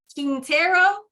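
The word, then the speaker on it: Quintero: say your name but is it King Tarot yes just like that all right so this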